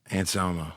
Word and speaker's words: Anselmo: Anselmo, the Pantera guy. Anselmo.